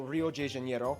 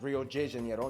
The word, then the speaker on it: Rio de Janeiro: from the old capital, Rio de Janeiro. That's right, it's pronounced Rio de Janeiro, not Rio de Janeiro. Get it right, we're not in Mexico. This is Portuguese, not Spanish.